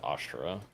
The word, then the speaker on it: Ashera: I forgot I forgot that's how they pronounce her name is ashra damn a fire embl